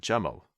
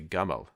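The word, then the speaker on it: جمال: it's related to the Arabic word jamal, which is the kind of standard pronunciation of the Arabic name. The Arabic word for camel is jamal. In the Egyptian dialect, the j sound is typically pronounced with a g sound, and that was also the case in the Middle Ages. It's a very old dialectical variation, and so in that case they would say gamal, and presumably that's how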